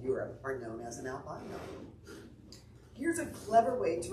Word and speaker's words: albino: are known as an albino here's a clever way to remember how to say it and here it goes a guy like me named al said by no means should you be ashamed